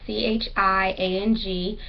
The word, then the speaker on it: Chiang: It's C-H-I-A-N-G, and I'm sure the I is not silent, so it's more than likely Chiang.